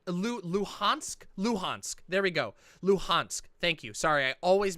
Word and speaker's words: Luhansk: is it said luhansk luhansk there we go luhansk thank you sorry i always mess up the pronunciation on that the donetsk and luhansk regions